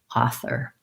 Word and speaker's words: author: that sound first like fur versus thur it's kind of like this word fur or this word fur same pronunciation and thur like as in third um so starting with that will help you make the difference and then you just add your ah offer author um if you have